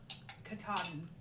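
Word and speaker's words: Katahdin: Kataden.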